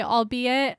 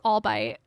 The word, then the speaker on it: albeit: For the longest time, I had never heard anyone say albeit. I had only read it. So I thought it was albite.